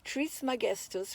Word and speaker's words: Trismegistus: This teacher is most commonly called Hermes Trismegistus, pronounced Trismegistus, which means thrice great or 3 times great.